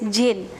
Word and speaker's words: jinn: Pronunciation of this word is jinn. Here D is silent.